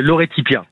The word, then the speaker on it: Lore Ttipia: Vous êtes le chef du restaurant Lor Tipia. Vous me dites si je le prononçais mal. Si je le prononce mal. Vous vous y êtes. Vous y êtes presque. C'est Lauretipia.